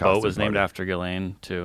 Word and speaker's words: Ghislaine: I think you say Ghislaine. Yes, that's right. What language is that? They would say Ghislaine and French, spell it like that.